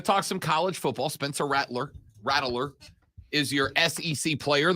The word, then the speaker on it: Rattler: It's Rattler.